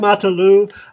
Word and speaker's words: Marta Lu: This is Seemorerocks reporting from Down Under, and I have with me Marta Lu. Is that the right pronunciation? Yes, Yeah, yes. okay. I have Marta Lu from Sao Paulo, and she, like me, is a concerned citizen.